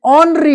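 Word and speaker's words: honorary: इनके आगे याद रखना कि ये जो एच है ये ये साइलेंट रहता है। ये जो साउंड है यह साइलेंट यहां पे रहा और तभी यहां पे एन आ गया।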